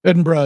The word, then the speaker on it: Edinburgh: Edinburgh is how it's pronounced.